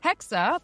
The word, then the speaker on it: Hexe: with their upcoming title, Codename Hexe. And yes, as far as I am aware, that is the proper German way to pronounce it, although there's a